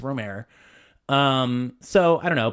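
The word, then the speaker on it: Rohmer: I feel like I've say Dilman, but almost everybody says D, but then almost everybody says Ror, too, and they're wrong. It's Romer.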